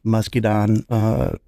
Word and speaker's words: muscadine: It actually has muscadine grapes added to it, and that's where it gets.